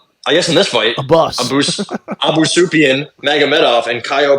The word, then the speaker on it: Abus: And also, I keep hearing people call him Avis. I'm like, God damn, man. Like, pronunciation is not that hard, but I guess in this fight, A bus.